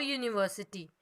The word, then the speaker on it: university: For examples, a university. Now students, can you see upside in picture the university word is beginning with the letter U, but it sounds like YOU.